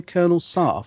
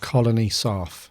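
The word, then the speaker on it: Colony Sarff: Actually, I was going to say, how do you say it, guy's name? Colonel Sarf. Colony Sarf.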